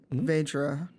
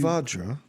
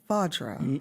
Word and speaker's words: Vajra: Vedra, can you create a it's cube? Vajra. Vajra. You know, like the A, like the vowel is pronounced like a ah.